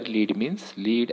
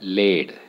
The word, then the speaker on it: lead: Lead means metal here, and here, lead as a verb means to lead people, netrutva karne.